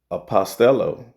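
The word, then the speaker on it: ἀποστέλλω: And when you go into that word sent forth that uh word in the Greek in the Strongs G649 the pronunciation is apostello okay which means apostle and the u definition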